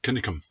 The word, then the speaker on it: Cunningham: the old district of cunningham pronounced in scots kinikum up until the 19th